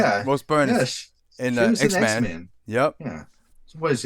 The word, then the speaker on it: Rose Byrne: Yeah, Rose Byrne yeah, is in she was in X X Men.